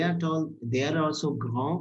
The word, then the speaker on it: grands: They are also grand. We are not pronouncing this extra S. It's a rule in French that the last letter is silent. Only C, F, L, R will be pronounced.